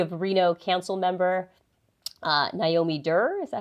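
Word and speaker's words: Naomi Duerr: senate seat you have Reno council member uh Naomi dur is that how you say her name yeah Naomi dur y yeah she's running and then uh Johnny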